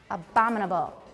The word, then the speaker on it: abominable: then just tap go abominable where do you tap which syllable on bomb because it's the stressed syllable woman okay try it